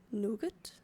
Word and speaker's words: nougat: This is not nugget. It's nougat. Nugat. Like I was is pronounced Nat.